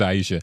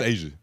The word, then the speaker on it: Asia: I would want to see I think it's Aisha. I want to see that. No, it's Asia.